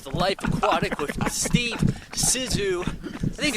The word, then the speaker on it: Zissou: I think it's pronounced Zissou.